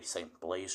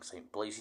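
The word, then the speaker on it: St Blazey: the church name wrong it's probably St Blaze church I've been saying St blazy church but whatever it's all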